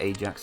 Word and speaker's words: Ajax: And this is Ajax, not Ajax, because Ajax is the Dutch football team. They call it Ajax because they don't pronounce the J's properly. I think anyway.